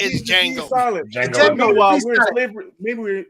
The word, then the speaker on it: Django: Is Django. Django. While we're in slavery, meanwhile we're in slavery time, and how the fuck does he know that the D is silent? Because the D is silent.